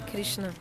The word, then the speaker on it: Krishna: That's why his name is Krishna. 2 meanings. Sorry, 2 syllables. Krishna.